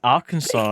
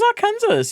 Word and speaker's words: Arkansas: And he was like, that's how you say it. That's It's Arkansas. And we're like, "What? Really? I had no idea." Kansas. Yeah. I thought it was our Kansas.